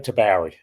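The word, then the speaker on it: Tabourie: And is it Taburi? Am I Am I pronouncing that correctly? Tabori. Tabari.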